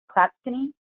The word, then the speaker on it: Clatskanie: How do you pronounce it? Clatskanie? Clatskanie, thank you.